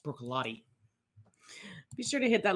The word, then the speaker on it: Bruichladdich: in their classic lottie it looks like it says brook lotic but they insist that it's pronounced broccolotti be sure to hit